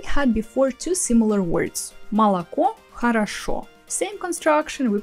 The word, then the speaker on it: молоко: The first two о, they are not stressed, we pronounce them as а, мала. And the last one is the only one stressed, ко, молоко.